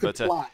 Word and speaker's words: Westerplatte: Westerplatte? Not far off. I think the correct definition is Westerplatte or something like that. Westerplatte, there you go. All right. But 7 days of Westerplatte, I don't think you can find it anymore.